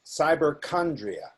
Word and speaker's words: cyberchondria: again is it cyberchondria the pronunciation is cyberchondria so can I describe